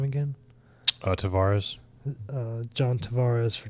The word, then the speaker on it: Tavares: Tavares.